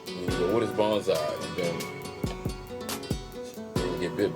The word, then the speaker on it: bonsai: It's pronounced bonsai, like bone, like bonsai, Japanese word.